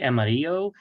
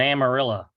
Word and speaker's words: Amarillo: by the way of amarillo how do you pronounce it we say amarillo amarillo and amarilla love it well thank you so much